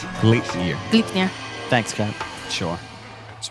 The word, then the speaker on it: Gleipnir: I see a lot of different pronunciations, but I it think it's seems like Gleipnir. Gleipnir.